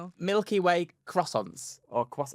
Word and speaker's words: croissant: Milky Way croissants or cross How do you say it? Croissant. Croissant. It's not how people say it with the R.